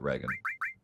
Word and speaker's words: Reagan: Ronald Reagan is upset with all of you who don't pronounce it Reagan.